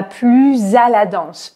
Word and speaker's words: plus: commence par une consonne je vais prononcer plus avec un Z si le mot qui suit commence par une voyelle ou par un h muet par exemple ici c'est